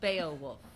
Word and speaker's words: Beowulf: or the bay wolf's Beowulf is an extra syllable well if you got